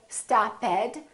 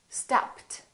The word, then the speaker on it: stopped: However, here we don't say stopped and we don't say robbed. So the rule changes. Listen to this one. Stopped, stopped.